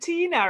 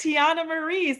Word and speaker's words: Tiana Marie: Yeah, because I think you said Tina, right? Well, did I say your name wrong? I'm sorry. That's okay. It's Tiana Marie.